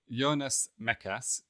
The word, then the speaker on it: Jonas Mekas: So, Yonas Mechas, which is uh I think how we've agreed to pronounce his name for the purposes of this podcast.